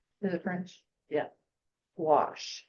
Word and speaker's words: gouache: that comes in tubes it's spelled g o u a c h e it's pronounced wash I guess it's a French word is it French yeah wash it's opaque water color